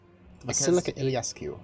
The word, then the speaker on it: Iliescu: Basilica Because he- Iliescu.